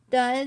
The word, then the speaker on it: does: So does, I'm just going to say DOS.